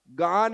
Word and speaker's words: गान: अर्घ कई धवल मंगल, ज्यादातर लोग ज्ञान बोलते हैं। क्या बोलते हैं? धवल मंगल ज्ञान रवाकुल। ज्ञान कहां से आ गया बीच में? पर आप देखना 60-70% लोग ज्ञान का उच्चारण कर, धवल मंगल ज्ञान रवाकुल। गान है, क्या है? हमने सुनकर के सीखा, इसलिए गान ज्ञान हो गया और वही दोहरा रहे।